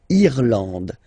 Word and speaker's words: Irlande: Remember, this is E, and it should be pronounced like E. Irlande. Irlande. Okay, A-N, en, D, and final E, not pronounced.